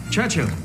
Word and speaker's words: Churchill: James's visit to Churchill Churchill that's how you say it all together like that I'd heard church and Hill but couldn't find either all I could see